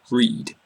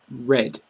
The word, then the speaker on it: read: the present would be read read but also in the past simple and past participle we pronounce it red red even though it